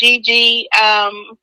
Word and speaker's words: JeeJee: So it's JEE. JEE. So that's JEEJEE, but it's just spelled with a J.